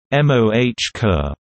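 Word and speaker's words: MOCR: Mission Operations control room MOC are pronounced MOH ker and now is called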